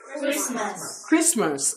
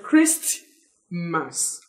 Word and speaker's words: Christmas: hear you pronounce this Christmas everybody Christmas it is wrong to say crisp mass it is right to say Christ but when you add M a s at the back it will swallow T when we talk about